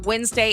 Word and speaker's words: Wednesday: do have problems with Wednesday and February just because we don't pronounce them the way they're spelled. Like it's supposed to be Wednesday and February, but we just don't pronounce it like that.